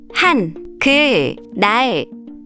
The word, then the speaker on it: 한글날: This happens because of a rule called lateralization. When 니은 and 리을 come next to each other, the 니은 often changes to an 리을 sound.